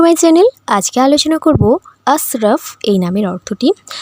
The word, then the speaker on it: আশরাফ: জানাবেন আরো একটি কথা সেটা হলো নাম হচ্ছে আসরাফ সঠিক উচ্চারণটাও হচ্ছে আশরাফ কিন্তু অনেকেই দেখেছি ভুল উচ্চারণ করেন তারা ডাকেন আসরফ আসরফ এইভাবে তো যদিও এটা ঠিক নয় সঠিক উচ্চারণ হচ্ছে আশরাফ কিন্তু আমি সচরাচর দেখেছি বিশেষ করে বেশিরভাগ মানুষই